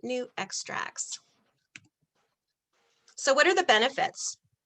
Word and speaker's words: NuXtrax: the new extracts and that's how you pronounce it new extracts so what are the